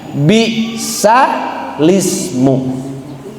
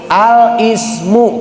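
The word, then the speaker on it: بِاسْمِ: Artinya bukan seperti itu dibacanya bukan al ismu tapi bisa lismu.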